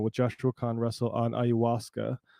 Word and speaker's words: ayahuasca: Joshua Con Russell on ayahuasca. Not ayahuasca, as my North Dakota ass likes to pronounce it.